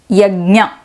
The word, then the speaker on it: Yajna: Before I go further, I am pronouncing this as Yajna.